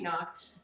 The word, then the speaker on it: GNOG: because I didn't make nog but did you guys know that nog is short for Noggin the g is silent um their game used